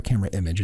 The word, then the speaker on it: Camerimage: So right now we're at CamerImage, or CamerImage, as I understand it's actually more correctly pronounced, and you're a jury member.